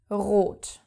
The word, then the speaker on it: rot: Let's take the color red, which is rot. Now, the word is starting with the R, so of course you have to pronounce it.